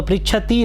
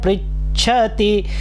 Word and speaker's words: पृच्छति: अब देखिए हमारी आदत क्या होती है, पृच्छति। अब हम इसको बड़ी ई कर देते हैं, पृच्छति। तो पृच्छति नहीं है, पृच्छति। ओम नमस्कृत्य, नमस्कृत्य, कृत्य, नमस्कृत्य भगवान याज्ञवल्क्यः, याज्ञवल्क्यः स्वयंभुवं परिपृच्छति।